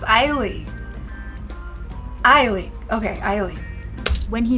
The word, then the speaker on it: Ai Lee: I've been saying this woman's name wrong for years. I was calling her Ailey. Her name is Ailey.